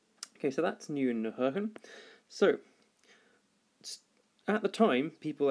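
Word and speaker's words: Huygens: I think, by the name of Hoehn, or as people very often mispronounce, Huygen, if you're American. But anyways, Hoehn.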